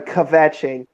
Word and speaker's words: kvetching: I'm sorry, kvetching. Are you happy now? About having to eat. I mean, come on, pronounce the chet a little bit.